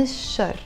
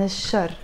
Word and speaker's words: الشر: with the letter شين, when you put L before that, that L, you're not gonna pronounce it. You're just gonna say بعود عن الشر. If you say بعود عن الشر, it's fine, it's not the end of the world.